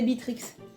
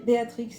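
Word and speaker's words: Beatrix: je quand j'étais petite quand j'étais petite je disais bitrix ça bitrix Béatrix mais je préfère enfin voilà la générale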